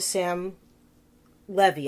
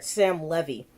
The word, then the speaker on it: Sam Levy: in the body of the sim levy I'm sorry I pronounced it wrong I'm sorry Sam levy and he's in the